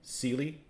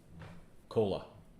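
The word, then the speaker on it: Coele: right it's a area it's spelled c-o-e-l-e celie and he pronounces it cola so i just i'd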